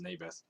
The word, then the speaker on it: Naboth: Ahab said to Naboth, I think it's actually pronounced Naboth, so that's how I'm going to pronounce it from now on.